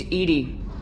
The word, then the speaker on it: EDI: why are you named Edie Ed is the phonetic pronunciation of EDI that is an acronym for enhanced defense intelligence where are you my